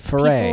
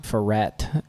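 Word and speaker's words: Foret: should say our last Foray, name because Foray. people say it wrong. Ferret, and but it's F-O-R-E-T.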